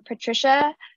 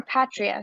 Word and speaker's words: Patria: in the chat from patricia how or patria sorry i've been saying your name wrong um how come we